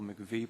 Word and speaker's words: MIECHV: but fortunately at least we have the pronunciation of This Acronym and it's relatively simple MCV program so I'm going to